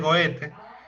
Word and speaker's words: Goethe: ocasión de vincularse con Goethe, y así se pronuncia Goethe. Goethe. En alemán es Goethe. En español sí es Goethe.